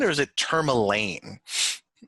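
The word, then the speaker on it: Termalaine: much further is it tourmaline or is it term elaine it's so it's i i can double check the pronunciation but it's named after the stone okay like that because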